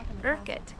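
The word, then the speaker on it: Urquhart: Well, we watched a video and so now I know how to pronounce it. We are at Urkett Castle right on Loch Ness.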